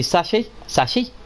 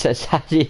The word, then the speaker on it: chassis: So we bring the sachet, I can't even say it. What's it? How do you say it, Claire? The chassis. Chassis. It's chassis, yeah, something like that.